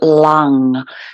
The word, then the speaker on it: LAM: is LAM l-a-m but it's when you kind of sound the mantras they're all kind of lung so L A and then n g so long so sitting nice and